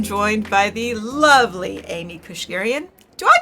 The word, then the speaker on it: Keushguerian: Today I am joined by the lovely Amy Kushgarian. Do I pronounce that right?